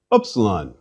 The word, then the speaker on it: upsilon: in tip please repeat upsilon this letter represents a sound that we don't have in english upsilon should ideally be pronounced as the u in french or as in the german word for miller on the other hand the u in english prune may serve as a close approximation please repeat upsilon phi